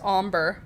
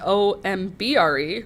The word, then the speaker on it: ombre: If ochre is how you pronounce o c h r e, then o m b r e will be umber. Nope, it's not oakray, but it is ombre.